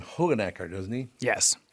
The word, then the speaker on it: Hoogenakker: He pronounces his name Hoogenakker, doesn't he? Yes. John Hoogenakker.